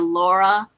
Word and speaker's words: Lara: So if you ever see any clips of it and you hear the person saying Laura, that's what they're talking about.